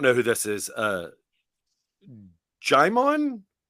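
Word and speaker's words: Jimeoin: Uh, Jimon Jimon. Am I looking stupid by mispronouncing this? And it's somebody that I do know. J I M E O I N. Not Jim Hans.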